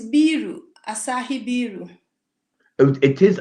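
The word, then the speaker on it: ビール: it's biru, Asahi biru. Oh, it is Asahi. It's Biru. Asahi, yeah. Biru. Yeah, Okay. So that sounds like a Japanese pronouncing beer when they say biru.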